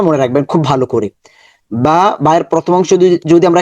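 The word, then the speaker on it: باء: তাহলে এই হরফটার নাম হচ্ছে বা। বা এর মাখারাজ হচ্ছে ঠোঁটের ভেতরের অংশ যুক্ত করে।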